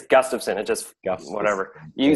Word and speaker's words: Gustafson: I've had like my whole life, or Gustafson. It's Gustafson.